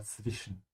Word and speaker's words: zwischen: Also, when you pronounce zwischen, make sure you start with the T sound. Yeah, zw. And the W is a V as usual. Yeah, zwischen.